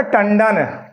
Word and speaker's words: टंडन: बिल्कुल शुद्ध रूप से एक शब्द है आपका टंडन ट से उच्चारण हुआ अगला वर्ण कौन सा है ड तो पांचवा क्या हो जाएगा ण ये आपका बन जाएगा टंडन बिल्कुल विशुद्ध रूप ये सब बिल्कुल विशुद्ध रूप है।